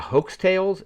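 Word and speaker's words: Heaux: Uh, next up was Jasmine Sullivan with uh, Hoaxtales. H E A U X is how it's spelled.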